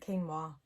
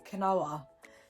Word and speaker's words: quinoa: i wanted to make quinoa bread is how you say it quinoa i feel like before i was saying it kanoa and then i was